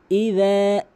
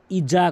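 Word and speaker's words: إذا: ইদা, ইজা কখনোই বলবেন না, ইজা বলা যাবে না।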